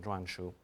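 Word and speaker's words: 篆书: It comes to be called seal script, and I'll give you the Chinese and Mandarin pronunciation, zhuanshu.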